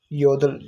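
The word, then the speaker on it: 여덟: तो ये इकट्ठे इकट्ठे आ रहे हो तो इसमें से पहला जो यह वाला होता है वो प्रोनाउंस करते हैं। योदल।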